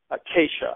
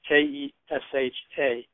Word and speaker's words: Kesha: There's a pop music girl named Keisha. I don't know if I'm pronouncing it right. It's Kesha.